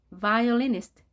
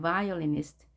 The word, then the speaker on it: violinist: 바이올린 연주자, violinist, violinist. 비읍으로 표현했지만 영어의 V로 발음합니다. 입술을 완전히 닫지 않죠. violinist, violinist, violinist.